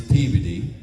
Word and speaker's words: Peabody: You know, you you think you know how to pronounce a city until you go there and you say it and the locals correct you. Exactly. Like don't go to Peabody, Massachusetts. It's peeved.